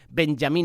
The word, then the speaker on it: Benjamín: Recordar que Benjamín Netanyahu, aquí lo decimos en España, Benjamín, cuando su pronunciación sería Benjamín Netanyahu, de la corriente conservadora